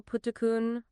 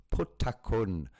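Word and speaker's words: Phutthakhun: Sorry, I was going to correct you on the pronunciation of the 5 powders, which is Pong Batamang. The second one would be Pong Putakun.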